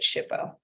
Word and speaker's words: SHPO: 433 and it's called shippo it's actually abbreviated shpo and they pronounce it shippo say It's s h